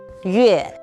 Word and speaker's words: 月: It is pronounced as 月.